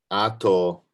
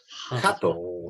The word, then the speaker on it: 鳩: Ato ga heya ni. Sorry, it's hato. Hato, not ato. Yeah. Hato. No, sorry, hato. Ato means after.